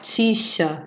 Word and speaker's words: ficha: né são dizer o x pode ter som de ks aqui acho que não tem nenhuma não mas a gente pode dar o exemplo a taxi crucifixo né som de ks e os x também com som de ch a ficha por exemplo